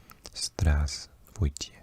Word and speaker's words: здравствуйте: The first v is not pronounced. Здравствуйте.